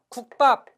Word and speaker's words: 국밥: 국밥. 국밥은 국밥으로 된소리로 발음납니다만 이건 사이소리 현상이 아닙니다.